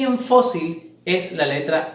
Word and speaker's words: fósil: Contrario a la palabra azúcar y fósil, que de igual forma tienen la mayor fuerza de voz en la penúltima sílaba, pero estas sí terminan en una letra que nos permite la regla tildar, que es cualquiera diferente a N, a S o a vocal.